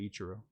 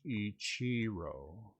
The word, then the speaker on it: Ichiro: Ichiro, or as I was told, Ichiro, but I'm going to say Ichiro. Actually, you say that incorrectly. It should be pronounced Ichiro.